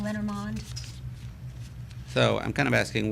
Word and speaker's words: Lenormand: Lenormand? I just said that wrong. Lenormand.